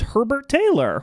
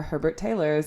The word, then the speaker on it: Herbert Taylor: Please welcome to the Gory Days, Herbert Taylor. Welcome. Hello. Is that how you pronounce it? Yes, Herbert Taylor?